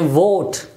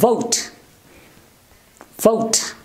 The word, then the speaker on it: vote: we V o te I'm pronounced kept a vote we normally pronounce this word is vote again this vowel sound oh but this vowel sound is not there the actual sounded this diphthong oh it's vote vote not very important how will you pronounce this